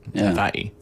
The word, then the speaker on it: Hawaii: Hawaii. Havi. Uhhuh. That's how they say it over there, isn't it?